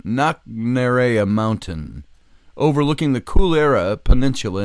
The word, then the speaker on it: Knocknarea: On Knockarea, it's pronounced Knocknarea, Knocknarea, Knocknarea Mountain.